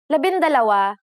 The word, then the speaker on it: labindalawa: For the letters D, L, R, S, and T, the G from NG is dropped to make it easier to pronounce. Labindalawa, labintatlo, labinlima, and labinsyam.